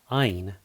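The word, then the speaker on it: -yne: parent chain and so the suffix Yee it's pronounced as ein it's going to communicate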